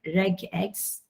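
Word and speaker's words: regex: your regular expression uh how to pronounce that reg x r e g regular expression like x ah okay like x regular expression or jonathan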